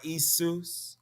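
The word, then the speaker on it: Iesus: the name isu or isus right with the i that i never sounded like a j that's that's very important also that e-s-u-s right in english it may sound the same right when you pronounce certain ways like that it may sound the same but it does not sound the same in latin or in greek it's very important if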